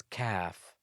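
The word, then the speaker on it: كاف: The 22nd letter is Kaaf, as if you're saying kilogram or calf.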